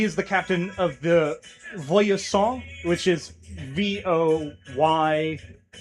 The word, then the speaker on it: Voyseaunt: And he is the captain of the Voyasant, which is VOYSEAUNT. And it's pronounced Frenchly.